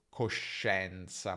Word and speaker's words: coscienza: A volte abbiamo anche SCIE, come in scienza o coscienza, ma quella I è muta, non si pronuncia.